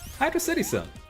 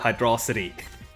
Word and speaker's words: Hydro City: down the planet anyway Hydro cityon and it's Hydro City it's a it's a it's a water placed City it's not hydr city like I don't know